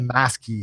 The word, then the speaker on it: Masky: Maskey. Have you heard of Maskey? How do you spell it? MASKY. No, I haven't. Like mask with a Y on the end.